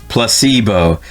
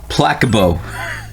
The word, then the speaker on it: placebo: Repeat after me. Placebo. The stress is on the middle syllable. Placebo.